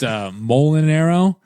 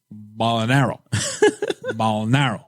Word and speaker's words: Mulinaro: So, usually it's pronounced Mulinaro, and he was like, Mulinaro.